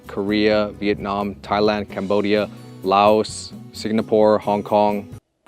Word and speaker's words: Singapore: Singapore, not Signapore, but Singapore.